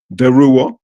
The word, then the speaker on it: DeRouen: and it's weird because if you're in France it would be like derua if you're in Louisiana